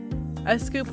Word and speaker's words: Sqoop: Apache scoop pronounced scoop handles bulk batch transfers between relational databases and HDFS.